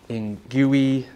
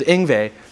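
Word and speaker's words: Yngwie: I thought it was Ingui, Ingvu, who knew what the name was gonna be. So it was Ingve.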